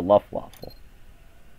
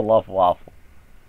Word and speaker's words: Luftwaffe: Really, it's the Luftwaffe. That's how it's pronounced. The Luftwaffe.